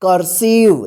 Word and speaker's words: cursive: CURSIVE, कर्सिव। देखिए सी के बाद यू आया है, तो सी का जो है ना क उच्चारण यहां पे हो रहा है, ठीक है।